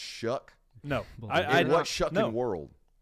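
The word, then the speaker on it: Shough: Shu Tyler Shu ah show sorry I don't even care if Tyler himself told me that's how you enunciate that that's spell s h o u g h that's pronounced Shu no what shuck in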